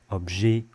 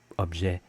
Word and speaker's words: objet: And the A sound can also come from longer words ending in ET. Poulet, objet, bouquet, or with a northern accent, poulet, objet, bouquet.